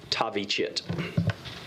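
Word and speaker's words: Thavychith: d-a-r-i-a-n middle name d-r-u last name t-h-a-v-y c-h-i-t-h pronounced tavi chit as soon as tavi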